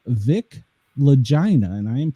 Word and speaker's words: Lagina: So the book is called Filthy, and the author of the book is called Vic Lagina, and I am pronouncing it correctly there.